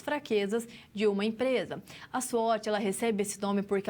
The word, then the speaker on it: SWOT: Aqui a professora traz para você que a nossa análise SWOT, ela pronuncia-se SWOT.